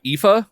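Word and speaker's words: Aoife: most popular ones is the epha which I think is spelled a OE i f e anyway the song I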